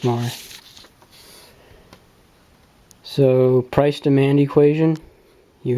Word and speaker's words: Marr: Yes, it's pronounced Marr.